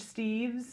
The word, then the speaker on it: Steeves: We're here with, and am I saying it right, Steeves?